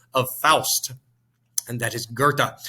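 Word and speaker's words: Goethe: faust and that is gerta spelled g-o-e-t-h-e but pronounced gerta toss-up number six one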